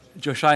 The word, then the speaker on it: Joshai: Joshai Henderson, are you here? Joshai. Okay, again, it's Josh Shea, pronounced Josh Shea.